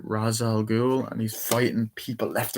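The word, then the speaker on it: Ra's al Ghul: crazy fight scene and the mansion am i pronouncing this right razzel ghoul and he's fighting people left and right i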